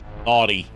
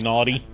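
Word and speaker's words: Gnawty: And it's naughty spelled like g n a w t y. Yeah. Yes, because it's a be. Yeah, very n Yeah, very naughty. Emphasis on the naw.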